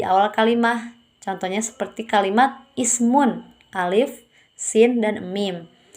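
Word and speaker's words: اسم: Nah, di sini alif di sini adalah alif wasol yang dibaca karena alif itu berada di awal kalimat dan tidak diucapkan ketika didahului oleh kata lain. Contohnya seperti masmun hadza rajul. Alif di situ di kata ismun itu tidak dibaca karena didahului oleh huruf ma.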